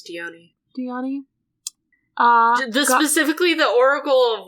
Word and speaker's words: Dione: And then is it Dion or Dione? I think it's Dione.